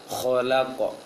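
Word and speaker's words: خلق: Khalaq. Kho. Jangan kha dia, tapi kho. Khalaq.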